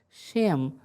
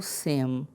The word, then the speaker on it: Shem: Shem ou Sem, porque o Shim vai variar a sua pronúncia conforme a colocação de um pequeno sinal que nós não temos no texto original.